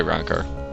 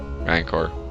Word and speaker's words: Rancor: know I'm gonna say ranor Rancor ranor yeah Rancor it's not an a it's o yeah Rancor why not